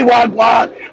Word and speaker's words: wagwan: So in Jamaica, we say That's enough. Wagwan. That's what I know. Why Joe never say wag. We say wagwan.